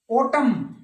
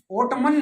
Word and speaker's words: autumn: फिर silent N, solemn न नहीं बोलना है, सोलेम, ओटम, ओटमन नहीं, ओटम AUTUMN।